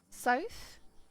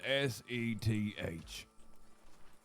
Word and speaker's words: Seth: everyone Seth pleasure soft says South sorry I just want to make sure I'm saying it right Sam all right like the direction oh no said s-e-t-h Seth yeah why is that so